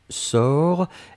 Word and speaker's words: sors: personne du présent c'est je sors s o r s on ne prononce pas le s p on doit quand même l'écrire futur simple de l'indicatif